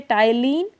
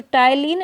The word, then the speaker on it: ptyalin: You can say ptyalin, P is silent. So, ptyalin and salivary amylase both are same.